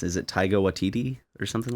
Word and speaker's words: Taika Waititi: It's I don't even know how to pronounce it. Is it Taika Waititi or something like that? Taika Waititi.